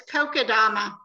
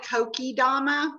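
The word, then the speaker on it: kokedama: my beautiful beautiful yes it's kokodama or some people call it kokidama but i call it kokodama beautiful and karen jamison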